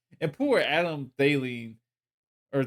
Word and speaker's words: Thielen: Unfortunately, and you guys traded McCaffrey, so like, and poor Adam Thielen or Thielen. How do you say it? I say Thielen, but Thielen.